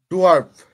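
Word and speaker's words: dwarf: এটা pronunciation ডোয়ার্ফ না ডোরাফ কোনটা? ডোয়ার্ফ। ডোয়ার্ফ না? ডোয়ার্ফ, ARF, আর্ফ, জি ভাইয়া।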